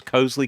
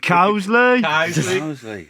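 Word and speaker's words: Coseley: Is that the right pronunciation, James? Cosley? Cowsley. That's Yeah.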